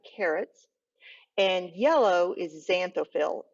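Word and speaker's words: xanthophyll: carrots and yellow is xanthophil it sounds like a z but it's spelled with an x the other one is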